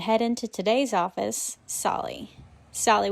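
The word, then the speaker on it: Tsali: Solly with a silent T, that is a recreational area within the Nantahala National Forest where folks come to camp, hike, bike, and kayak.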